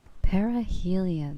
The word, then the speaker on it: perihelion: Perihelion, that's how you say it.